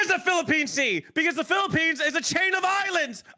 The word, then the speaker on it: Philippine: you're my sh a Philippian C Philippine C look my soul my soul has right here on Wiki that's not how you say it okay Philippine stop adding an extra syllable Philippians is a book